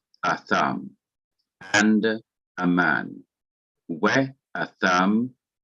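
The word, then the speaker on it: אָדָם: Now here is a noun, atham. In modern Hebrew, it would be pronounced Adam.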